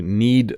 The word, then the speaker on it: knead: say this word need sometimes we have silent letters so when you make bread you need to need the dough I just used two